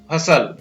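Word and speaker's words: hustle: तो इसको पढ़ेंगे H ह हो गया, यू का अ बनेगा, स और ल हसल, क्या पढ़ेंगे इसको, हसल।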